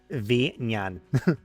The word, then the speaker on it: Vinyan: Vinyan. The letter V and then Nyan. Yan. Like the Nyan cat.